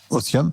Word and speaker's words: otium: non l'ocium c'est quoi c'est un mot latin donc ça s'écrit i um ça ça se lit otium mais ça se prononce otium l'otium c'est le loisir